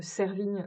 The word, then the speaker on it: Servigne: Euh Servigne, ça s'écrit S E R V I G N E.